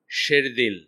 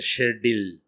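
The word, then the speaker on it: شیردل: এখানে একটা ওয়ার্ড আছে শেরদিল, শেরদিল কথাটা উর্দু, এটা মানে হচ্ছে লায়ন হার্টেড। এইটা পর্যন্ত মিনিংটা জানে না বা উচ্চারণটা জানে না, লিখছে শেরডিল, বুঝছেন তো?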